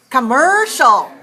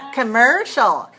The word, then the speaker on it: commercial: i hear you commercial no stress no stress at all commercial how about this commercial yes much better you sound beautiful when you say commercial not coke very weak on the first syllable commercial all right how about